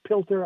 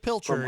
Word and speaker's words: Pilcher: Is it Pilter? I may be pronouncing it wrong. Pilcher, yes.